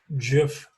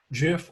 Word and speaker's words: GIF: file formats that's jpeg jiff in ping okay so that's jpg or j p e g gif or gif however you want to pronounce dot g i f